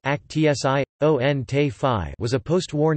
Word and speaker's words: Aktion: Aktion T4, German, pronounced Aktion T5, was a post-war name for mass murder through involuntary euthanasia in Nazi Germany.